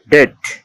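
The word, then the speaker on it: debt: কোন শব্দে কনসোনানের পর বিটি থাকলে এর উচ্চারণ টয়ের মতো হবে, এক্ষেত্রে বি অনুচ্চারিত থাকে। যেমন ডাউট, ডিওইউবিটি, ডাউট, ডাউট মানে সন্দেহ। ডিইবিটি, ডেপ্ট, ডেট, ডিইবিটি, ডেট, ডেট মানে ঋণ।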